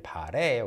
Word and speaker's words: 바라: And then the next one, I noticed that the word 바라 in a song lyric, 빛나길 바라, is pronounced as 빛나길 바래.